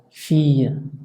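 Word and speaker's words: fille: aunque en algunos casos, cuando está doble, se pronuncia como doble L tenue, o sea, filla, filla, o familia.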